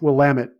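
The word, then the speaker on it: Willamette: but the focus of Oregon wine is the Wamut Valley with Pino Grapes. And it's pronounced WamiT, damn it.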